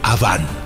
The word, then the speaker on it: Awan: El nombre de la esposa de Caín era Awan, A-W-A-N. En hebreo, Aven. Se pronuncia Aván.